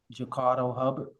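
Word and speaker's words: Jacardo Hubbard: Um can you just state your name and spell it for the record, please? Jakardo Hubard.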